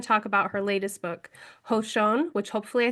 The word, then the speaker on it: Hózhǫ́: Yeah, Hozho.